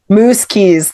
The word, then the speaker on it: Muzquiz: awesome awesomely brilliant Mookerjee. Did I pronounce it right? Close enough. Mookerjee? Mookerjee. Think moose like the animal, keys for your car.